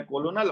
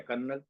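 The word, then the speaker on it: colonel: अब वो है कोलोनल और दे रहे कर्नल।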